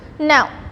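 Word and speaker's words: know: K-N-O-W. Now, so the word K is, letter K is getting silent here. It is read as now.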